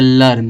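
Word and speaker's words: learn: तो यल का उच्चारण ला और E का उच्चारण छोटा। तो ला रा उड़ौआ रा हो गया, रा यन का उच्चारण ना, तो हो जाए लर्न हो जाएगा।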